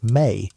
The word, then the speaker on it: me: The concept of the mi, pronounced may is central to understanding this worldview.